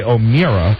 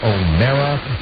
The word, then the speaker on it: O'Meara: that name, and technically, it might be correct to say O'Meara, but we have always pronounced it O'Mara, like bear, share, scare, dare.